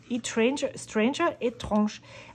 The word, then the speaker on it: Etranger: The notebook company is Etranger di Costa Rica, Etranger. I would pronounce this French, the first part.